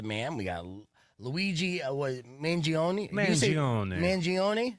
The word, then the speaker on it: Mangione: Mangione. You say because it's Italian. You got to say it like that.